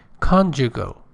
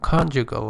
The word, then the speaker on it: conjugal: Conjugal. Pay attention, the stress is on the first syllable. Conjugal, and it means everything, any concept, anything related to marriage, married life.